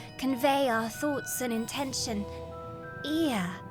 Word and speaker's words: Ea: When the vibration of vocal folds was still required to convey our thoughts and intention, ear, I believe, was the pronunciation used when referring to our people.